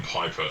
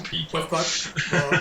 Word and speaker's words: Pieper: I just realised I called him Piper. Sorry, people. I know his name is Pieper.